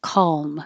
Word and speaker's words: calm: come over Saturday and you don't have to say the L you could make a dark L calm so the middle of